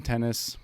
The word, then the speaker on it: Tennis: resume my name is tennis pronounced just like the game tennis and i own and